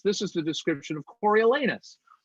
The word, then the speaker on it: Coriolanus: The best part of Coriolanus is getting to say Coriolanus because the last two syllables are naughty. And it delights me and tickles me no end to think of parents across the world going Coriolanus.